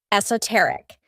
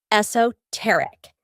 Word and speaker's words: esoteric: The most common is esoteric, though you'll also hear esoteric.